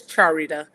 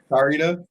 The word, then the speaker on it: Charita: How how what is the correct pronunciation of your name? Because I have heard it wrong before. It's Charita. Charita.